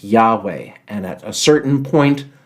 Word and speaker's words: Yahweh: of the writers was uh YH wh it's pronounced Yahweh and at a certain point that name YH